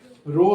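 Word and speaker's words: rho: ऐसे बनाए हैं और इसका नाम है रो। इसको प्रोनाउंस करते हैं रो से।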